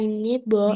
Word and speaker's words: neighbor: Bang, I have as he as my neighbor neighbor neighbor. GH-nya jangan dibaca.